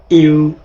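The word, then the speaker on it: 鱼: তস বাংলা উচ্চারণ তংসি মিস জিনিসপত্র। জিনিসপত্র অর্থাৎ তারপর মাছ। মাছের চাইনিজ কি? মাছের চাইনিজ হচ্ছে ইউ ইউ ইউ ইউ means much.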